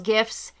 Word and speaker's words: GIF: shooketh that claire calls gifts gifs why that's totally acceptable no it's not it's a gif it's a hard g i've heard both from